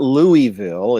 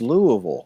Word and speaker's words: Louisville: the south that's true it's not Louisville it's Louisville it's not it's not you